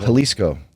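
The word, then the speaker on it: Jalisco: margar what's the margarit halisco yes is that how you say it halisco go with an a go with an a instead of a j yeah um we have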